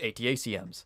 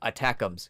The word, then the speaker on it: ATACMS: how they're pronounce they're they're pronounced atacms or something like that like no they literally pronounce them attack thems cuz what do you do with them you attack them yeah that is 100%